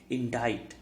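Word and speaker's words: indict: इसका प्रोनाउंसिएशन देख लीजिए दोस्तों, बहुत लोग गलत करते हैं। इंडाइट, इसका करेक्ट प्रोनाउंसिएशन है इंडाइट। ऑप्शंस हैं इसके एब्सॉल्व।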